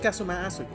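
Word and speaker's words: Kazuma Asogi: it's my best friend's name not mine it's pronounced kasum asug I actually believe this arm but in some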